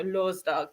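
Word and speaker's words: lørdag: say it l do so it's l o with a across through it r s then d a g dog so Law's dog is bth day and I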